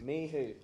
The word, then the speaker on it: MICHU: Mihu.